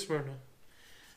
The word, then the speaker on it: Smyrna: It looks like Smyrna. It is Smyrna. It just smells, they spell it weird.